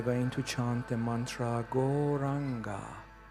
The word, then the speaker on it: Gauranga: And in this practice right now, we are going to chant the mantra Gauranga, which has 4 syllables. Go, Ra, Anga.